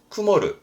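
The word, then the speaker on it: 曇る: 하시면 돼요 앞에 있죠 구름은 일본어로 쿠모 그래서 발음은 쿠모르 구름은 쿠먹 그러니 흐리다는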